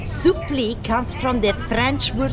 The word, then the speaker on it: Supplì: Sup is spelled s u double p l i. Supli comes from the French word supri which means surprise.